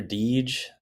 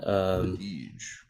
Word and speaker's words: Dege: That's Brother Deege. That's spelled Dege. And Deege, got it.